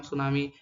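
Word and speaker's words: tsunami: नाम सुनामी है Japan Japan में इसका नाम सुनामी है टी साइलेंट होता है जापान में सुनामी कई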